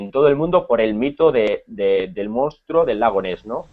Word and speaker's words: monstruo: Y luego hay una palabra que creo que era monstruo, creo que era, que no las pronunciaba muy bien, se dice monstruo, ¿no?